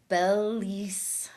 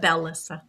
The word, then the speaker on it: Belle-Lyssa: But um Bellis, Bellis, did I say it right Bellis? Melissa, but Bellisa.